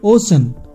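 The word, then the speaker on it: ocean: করো সি এর পর আই এ আছে যেমন ওশান ও সি ই এন ওশান মানে মহাসাগর নেক্সট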